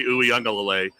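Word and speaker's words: Uiagalelei: DJ UE unclelay where nobody can say his last name but that's how you say it DJ uelay um he had lost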